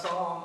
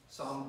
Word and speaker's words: Psalm: Psalm 36. The P is silent.